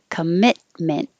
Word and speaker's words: commitment: it's the same pattern we don't pronounce the t's we don't release the t's just hold them commit mint again instead of commitment commitment and rural rural role